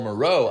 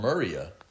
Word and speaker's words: Mureau: And I go at the time I didn't know that it's called Mureau. I thought it's called Muria.